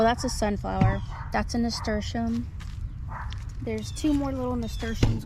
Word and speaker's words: nasturtium: Some people call them nastrium, but I don't know. It's nasturtium as far as I know, but whatever makes you happy when it comes to pronouncing things.